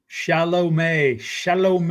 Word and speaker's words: Chalamet: Chalamet, like shallow water and the month of May.